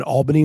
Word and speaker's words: Albany: Um, Scott, thank you for pronouncing it correctly. Everybody started saying it the other way. I have My aunt lives in upstate New York. It has been Albany my entire life. I was wild when people started pronouncing it differently.